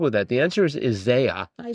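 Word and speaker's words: Isiah: The answer is Isaiah. Isaiah. Isaiah. It's spelled I S I A H. Yes. It looks like it's Izziah. I know, but it's pronounced Isaiah.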